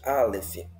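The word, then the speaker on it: אלף: palavra a letra Alef Alef Essa é a pronúncia Alef veja Ela não ela não ela não é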